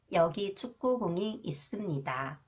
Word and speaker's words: 있습니다: 시옷 is when 시옷 follows the final consonants. Okay, 쌍시옷, it is pronounced 드. The 시옷 is pronounced 스. 쌍시옷. 있습니다.